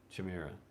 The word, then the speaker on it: Chimera: Chimera.